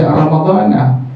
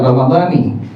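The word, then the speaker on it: رمضان: Dia bilang hukumnya guru saya bilang seperti ini, bahwa kalimat Ramadhana dibaca Ramadhana, tidak Ramadhani.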